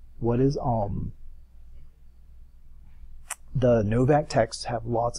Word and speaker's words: Om: What is Om? Right back there behind me. A-U-M, phonetically. What is Om?